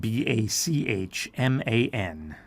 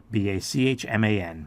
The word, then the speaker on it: Bachman: Also, the K sound there is not with a CK. It's with a CH. So it is a little hard to spell. So that is spelled Bachman. So there's only one N there.